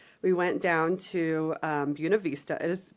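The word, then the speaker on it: Buena Vista: We went down to, um, Buuna Vista. It is pronounced Buun Vista, spelled Buav Vista. Don't ask me. Nope, not Buena. Uh, Buuna Vista.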